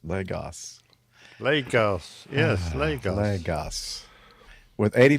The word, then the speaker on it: Lagos: It's got 2 whole syllables. Lagos. Lagos.